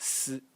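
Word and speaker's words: 糸: Fiber, and that is the reason for this element over here, which is pronounced si, and it means silk.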